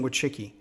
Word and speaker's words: Wojcicki: the you to the YouTube C CEO Susan would chicky she told CNN last month that her platform